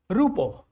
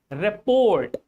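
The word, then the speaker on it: rapport: Rappo. That This This word is rappo. Rappo. This is rappo. Not report.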